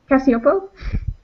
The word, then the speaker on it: Cacioppo: last name so i i prefer if you pronounce it cassiopo cassiopo and um you're going